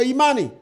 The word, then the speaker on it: Imani: Because there's a lot of different pronunciation for Imani. You could say Imani.